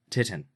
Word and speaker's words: titin: Titin. Titan. It's the what? Titan. Titin.